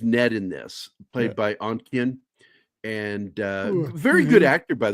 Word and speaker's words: Ontkean: Yeah, Michael I can never pronounce that name. Ontkean? Ontkean. Yeah. It's Ontkean.